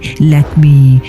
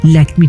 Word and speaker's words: Lakme: Tata তৈরি করে ল্যাকমি যার নাম এসেছে লক্ষ্মীদেবীর ফরাসি উচ্চারণ ল্যাকমি থেকে।